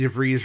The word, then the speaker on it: DeVries: So afterwards, a bunch of us, Jeff and I and Adriana and Scotto and Vicky DeVries, rhymes with cheese, as well as some of the gals, we went to a restaurant right next door to where the screening was.